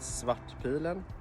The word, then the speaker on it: Svartpilen: krona 401 swat pylon swat pillow in swedish means the black arrow and you pronounce it swat pilen you know as you